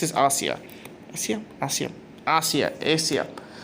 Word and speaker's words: Asia: Asia Asia Asia Asia Asia seriously why is is a name pronounced like the continent of Asia anyways as he picks